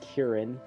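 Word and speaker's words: 기린: um interesting side note quillin in Korean is pronounced kierin uh and the Japanese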